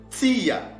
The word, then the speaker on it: Tia: Ces mots-là se prononcent Tia.